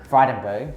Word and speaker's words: Frydenberg: This Josh guy, Josh, how do you even pronounce it? Frydenberg, Josh Frydenberg, is the Australian Treasurer.